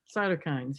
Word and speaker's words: cytokines: Cytokines, yes.